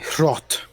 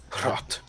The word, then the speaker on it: Hrot: Rot. Oh yeah. HR. HROT. Yep. Thank God I know how to pronounce it. Rot.